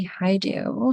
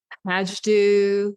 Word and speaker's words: Hajdu: special guest is Patty Hau hi Patty well done thanks lots of people say that name wrong what did they say Ha do ha do oh okay yeah I